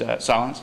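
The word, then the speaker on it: Sahlins: an interview with a guy named Marshall uh Solin I think is how you pronounce this name I've never actually heard it out loud but he's at University of Chicago um very celebrated anth Anthropologist who is Solin okay good thanks um and uh he's a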